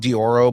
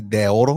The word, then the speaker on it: Deorro: And it's funny because he pronounces it like it's spelled Dioro, but it's supposed to be de oro, which means of gold.